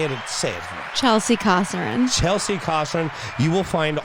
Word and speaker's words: Kosarin: It's Kosarin.